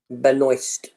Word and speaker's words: Benoist: How do you pronounce that? Benoist.